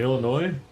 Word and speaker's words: Illinois: Illinois. Illinois. I mean, if you didn't if you didn't know to to read it. But yeah, it just says Illinois. They don't pronounce the S.